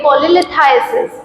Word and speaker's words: cholelithiasis: इसको हम प्रोनाउंस करेंगे कोलेलिथाइसिस, कोलेलिथाइसिस and that is द कोलेसिस्टाइटिस।